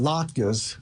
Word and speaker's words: latkes: I mean, you know, I know about latkes, kind of rhymes with babka, but so that's a wonderful thing, though.